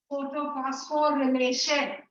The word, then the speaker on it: photophosphorylation: I pronounce it this way. Photophosphorylation.